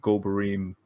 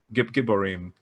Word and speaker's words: Gibborim: Why do they then connect to the underground, the Gobarim, I may be mispronouncing that word. Giborim. Gibborim, like in Ezekiel 32.